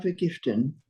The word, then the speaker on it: vergiften: Mein Papa wird euch alle vergiften. Ja, genau. Remember, everybody who's watching, when you're reading, most of the V's in German are an F. Vergiften.